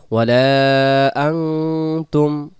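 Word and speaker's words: وَلَا أَنتُمْ: আয়াত ওয়ালা তুম ওয়ালাতুম এখানে উচ্চারণটা হবে আং সরেয়া আর অনুস্কার মিলে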